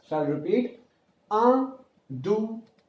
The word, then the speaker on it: deux: Two is called as deux, D-E-U-X. X is not pronounced, so deux.